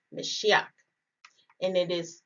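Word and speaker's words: משיח: found in strong's h 48 99 it is pronounced meshiach and it is spelled so m-s-y-c-h or if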